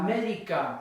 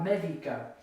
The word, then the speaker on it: médica: synonymous to doctor, la médica. Now it's at the very front of the word, la médica.